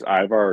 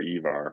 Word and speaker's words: Ivar: I've never known if it's Ivar or Evar, but I think either one's fine.